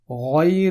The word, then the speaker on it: غير: یاد رہے ہم اردو میں لفظ غیر بہت استعمال کرتے ہیں، لیکن عام طور پر غین کے ساتھ غیر تلفظ کرنے کے بجائے گاف کے ساتھ غیر تلفظ کرتے ہیں. اس لیے قرآن مجید تلاوت کرتے وقت ہمیں غیر تلفظ کرنا ہے، نہ کہ غیر.